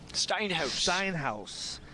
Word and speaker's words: Steinhaus: Speaking with the coach for the Redcoats earlier, how'd you pronounce that last name? Steinhaus.